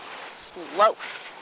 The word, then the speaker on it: sloth: spelled like sloth but experts tell us it's pronounced sloth sloth bears are the kind we most often